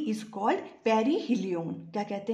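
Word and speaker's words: perihelion: हैं देखो the closest point प इज कॉल्ड पेरी हिलिन क्या कहते हैं इसे पेरी हिलिन स्पेलिंग है पी ई आर आई एच ई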